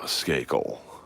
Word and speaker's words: Skakel: ] Lois because uh my last name is pronounced skel skakel I'm a uh standup comic in Los Angeles